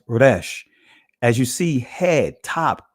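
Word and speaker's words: resh: The next letter is the raash. In the Israeli language is pronounced rash.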